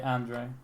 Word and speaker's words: Andre: The guy underneath that starts with the A, we say Andre Colden. Let's just say Andre.